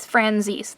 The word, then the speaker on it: Franzese: to pronounce her name it was franzis that is how she pronounced it in the video so we're gonna go